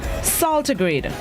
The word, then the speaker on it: saltigrade: This morning's word of the day is saltigrade. Saltigrade. It's spelled S-A-L-T-I-G-R-A-D-E.